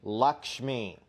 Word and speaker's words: Lakshmi: annual chore Happy Diwali I brought you a lamb lock shimmy Lakshmi Lakshmi Lakshmi leukemia wait what when's deepavali is